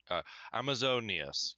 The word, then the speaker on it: Amazonius: just- Amazonius. I don't know. Amazo, and then it's like a little break, and then Neus. Amazonius.